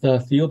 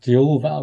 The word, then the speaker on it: THIAOOUBA: It's pronounced THIAOOUBA, and some people pronounce it Jehovah, which is very similar to the word Jehovah.